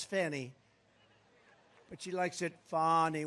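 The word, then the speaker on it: Fani: right has anybody fonnie it's pronounced fonnie F A ni I that's Fanny but you likes it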